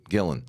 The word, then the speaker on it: Gillan: this franchise so much you didn't pronounce her last name right. Gillan.